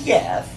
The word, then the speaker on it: Yef: This is Yef, pronounced like Y-E-F-F.